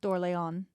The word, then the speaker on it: Orléans: Well, it's spelled Orleans. Yeah, it looks like Orleans. I'm sorry. Orleans that we American. say here, but I think it's House d'Orléans.